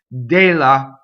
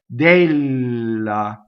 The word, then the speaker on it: della: Della. Okay, closed E on a stress. Della. Notice the double L. I hold the L in phonation. Della, one L. Della.